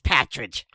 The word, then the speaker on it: partridge: to do with hunting partridges. Well, yeah, and to be honest, if I was trying to do a wacky New England accent, I would totally pronounce partridge as patridge.